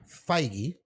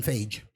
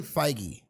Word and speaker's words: Feige: has it that Kevin Feige I don't know people keep saying Kevin sage every time these comic book places although you know what it is spelled like beige yeah but yes never by